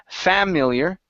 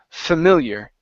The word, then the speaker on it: familiar: word familiar ok so our stress is here in the middle so instead of saying familiar it's the familiar familiar good good job one